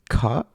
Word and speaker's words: KOQ: How do you say that? KOQ. Sounds a little... Read it out loud. You say it. Is it cock? Did I say correctly? You said that correctly.